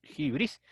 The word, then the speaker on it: hybris: a la hybris bueno a jibril se pronuncia acción griega ahí tienen jibril y se escribe libres nosotros lo leeríamos así libres qué es la hybris